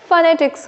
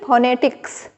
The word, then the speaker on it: phonetics: सो फोनेटिक्स, और इसका उच्चारण विथ स्ट्रेस फोनेटिक्स होगा, ठीक है ना, न कि फोनेटिक्स, ठीक है।